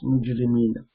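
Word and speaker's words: مُجْرِمِينَ: Mujrimuna, una sound is in rafa case, and ina sound, nasab and jar case. So because this is in jar case, mudaf ilay, we'll pronounce mujrimina.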